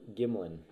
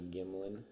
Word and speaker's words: Gimlin: came out Patterson and I always get the guy's name wrong Jim Bob Gimlin Gimlin I was once a Gimli I don't know a disrespectful piece of oh sorry mr. gamblin they they end Patterson's